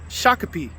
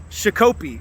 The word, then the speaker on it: Shakopee: single day right well today i learned that this town is pronounced shakopee minnesota and not chicopee like i was calling it in my previous video so we made it